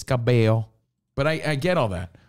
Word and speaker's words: Cabello: It's not Camilla Cabello. It's Cabello.